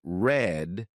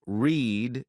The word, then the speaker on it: read: at all for example why are read pronounced red in the past tense and read pronounced read in the present tense or why is mice